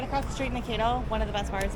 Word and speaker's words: Mankato: Pronounce this place's name. Is it Mankato? Mankato.